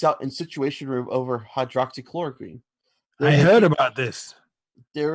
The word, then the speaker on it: hydroxychloroquine: of anti-malaria drug hawks hydroxy chlorine but multiple source you gotta say it right hydroxychloroquine because if you say you're wrong somebody's gonna go and